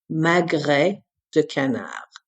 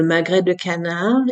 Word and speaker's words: magret de canard: Magret de canard.